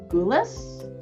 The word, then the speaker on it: Gulas: It's Mr. Gulas? Yes, it's correct.